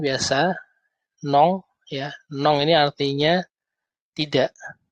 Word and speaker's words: non: Ini N biasa, nong ya. Nong ini artinya tidak atau no. Bacanya nong. N-O-N tapi bacanya nong.